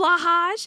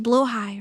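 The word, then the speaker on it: Blåhaj: Lulu on the blahage. Wait, wait, no, no, no. I was told it's actually pronounced blowh high, right?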